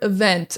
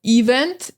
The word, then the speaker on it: event: Careful with this word event. A lot of students will say like event. It's event. So the emphasis is on the vent.